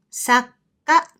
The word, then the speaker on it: 作家: 作家 means a professional writer or author.